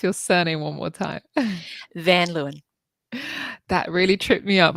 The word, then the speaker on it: Van Luyn: great to be here and how do we pronounce your surname one more time van Leen that really tripped me up I know I